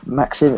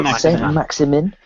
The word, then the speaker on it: Maximin: Alassane Maxim, is it? God, how do you pronounce it? Maximin. Oh, there we go. Third time lucky.